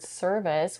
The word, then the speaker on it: service: In the first syllable of the word service, we have a stir sound, It's a stressed R-colored mid-central vowel sound. It's a vowel that it's almost taken over by the American R.